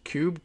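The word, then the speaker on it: Kube: know how no no she pronounces it because it's cube courtney cooby got a k-u-b-i i don't watch enough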